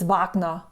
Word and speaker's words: Wagner: Um, it's so hard for me to pronounce Wagner. Actually, it's Vagna because Vagnner is German and this guy that it's named after is German.